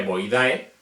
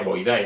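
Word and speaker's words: Boidae: como el por ejemplo la familia voy dae no se pronuncia void ay si no se pronuncia voy d aquí es de las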